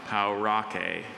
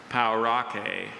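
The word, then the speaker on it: pauraque: Or is there any alternative pronunciations? I have just the one, Parikh. Is the language of origin American Spanish? It's from Spanish, yes. Say what again? Parikh. Parikh. P-A-U-R-A-Q-U-E. Parikh.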